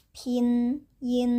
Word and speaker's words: pinyin: Pinyin. Jadi ini bukan pinyin, cara bacanya adalah pinyin. P itu dibacanya seperti PH ya, gitu.